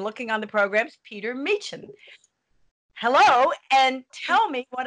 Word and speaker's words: Meechan: Well, my name is pronounced Meechan with a hard sort of CH sound, which is a surname via Scotland and Ireland.